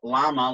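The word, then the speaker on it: བླ་མ: c-h-o-s um and then another word you hear a lot llama like dalai lama spelled b-l-a-m-l-a there you go that's how it works silent consonants the idea was that originally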